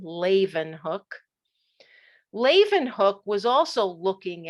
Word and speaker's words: Leeuwenhoek: has a terrible name his name is laven hook that's how you pronounce that last name laven hook laven hook was also